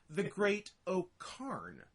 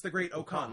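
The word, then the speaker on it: Great-O-Khan: maybe a little, and his name there was the Great O'Karn with an R, but maybe it was just because the way British people pronounce it, because you don't really pronounce the Great O'Karn. Like, I think they just spelled it wrong. Because now that he's in New Japan, it's the Great O'Khan, like Genghis Khan.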